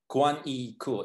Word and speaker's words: Kuang Yi Ku: have amazing guests as you already know um kuan yi cool it's a correct pronunciation yes okay so we have quan cool